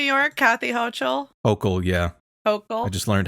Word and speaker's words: Hochul: Hochul. I just learned how to pronounce that.